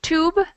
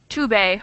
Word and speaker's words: tube: complicated that is basically an e at the end of a word does not get pronunciation so for instance in when it says rule number two it's tube not to Bay or to be or anything like that so either silent that's